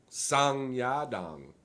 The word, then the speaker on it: Song Yadong: Oh, it's Song Yadong. Sung Yadong. Yeah, they pronounced it for me.